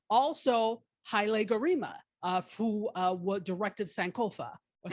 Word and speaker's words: Sankofa: Also, Haile Gerima, who directed Sankofa. or Sankofa, let me say it properly.